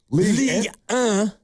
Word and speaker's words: Ligue 1: Ligue 1. It's the French league. That's how you pronounce 1 in France.